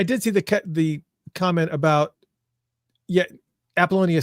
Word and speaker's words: Apollonia: Apollonia. Replace the I with a Y. Like baloney.